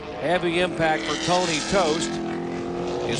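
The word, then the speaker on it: Toste: off his car have the impact for Tony toast is spelled TOS te ver pronounced toast and he's in the wall and meanwhile some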